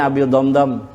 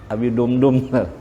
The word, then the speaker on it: Abi Damdam: Ngarannya Abi Damdam. Ini kalau didammahakan membacanya lah, coba lah. Abi Dumdum, jangan. Abi Damdam.